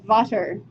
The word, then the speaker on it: Vater: So the duodenal papilla of Vater, V-A-T-E-R instead of Vader, but pronounced similarly.